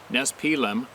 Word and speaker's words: Nespelem: We lived in a small town in eastern Washington called Nespelem, pronounced Nespelem.